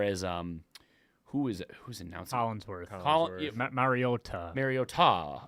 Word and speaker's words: Mariota: Yeah, Mariota. Mariota, like yeah, Or Marioto.